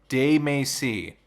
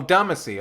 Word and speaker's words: Damacy: De Macy. That's how you pronounce it? De Macy? Katamari Damacy. Oh, Damacy.